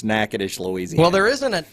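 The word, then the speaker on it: Natchitoches: say it really fast I actually know how to say it all right it's Naish nacadish it's nacadish that ain't how it reads I get it it's nacadish Louisiana trust me I've been there stupid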